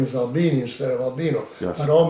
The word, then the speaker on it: Albini: explained it so well my name is albini spelled with an eye of a-l-b-i-n-i during my uh induction into the army somehow it became albino yeah and there are some people named albino but mine is albini yeah so i never